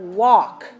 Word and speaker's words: walk: let's say the word walk okay now ALK the L is silent so wal k the